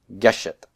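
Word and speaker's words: גֶּשֶׁת: is double Sehgal and I accent the first syllable on Sega let's guess it guess it guess it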